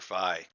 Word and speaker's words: Phi: My name is Phi. Either the Greek letter pronounced American way, or if you prefer the Greek pronunciation, you can call me Phi, but I prefer Phi.